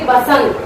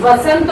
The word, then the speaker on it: वसंत: ठीक है, अब देखिए बसंत, उच्चारण भी लोग गलत करते हैं, लिखते भी गलत है, बहुत से लोग ऐसे हैं, जिसमें वसंत बोला जाएगा, वसंत।